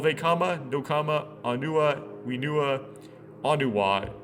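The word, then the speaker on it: Onewa: I call Vekama, Nokama, Anua, Winua, Anuwa, how it's pronounced, Winua, Nuju, and Matau.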